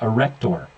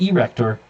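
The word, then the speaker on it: arrector: in through this area a rector it's not erector it's a rector it's commonly mispronounced sebaceous glands right here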